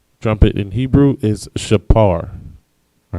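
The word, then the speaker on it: שופר: And so when they translated it, they tend to translate the p sound into an f sound. All right, not a p but an f, which is where you get shofar.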